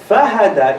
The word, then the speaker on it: فَهَدَى: Fahada doesn't have shadda there. Why doesn't it have shadda? Because shadda means stress. Fahada is pronounced with takhfif. Takhfif means when you lighten the word.